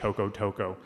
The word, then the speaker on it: Jocotoco: And the founding story for Jocotoco, and so it's spelled with a J, but it's Spanish, so it's pronounced with an H, Jocotoco.